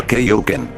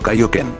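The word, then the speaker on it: Kaiōken: En los doblajes de Ocean y el de Funimation para Z, este término se decía incorrectamente como Kaioken. Curiosamente, la única vez que se pronunció correctamente fue en las películas dobladas por Ocean y producidas por Pioneer y Funimation en 1997 y 1998.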